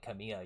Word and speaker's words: Camila: Everyone on my Camila videos, they'd be like, "Blake, why do you say her name like Camilla?